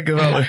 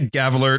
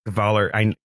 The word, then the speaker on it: Gavala: I hear your last name rhymes with squalor. Yeah, Gavala. Yeah, there we go. Yeah, I was Chris has to remind me just inside baseball. I always say Gavler at first, and then it's like, no, it's Gavaller.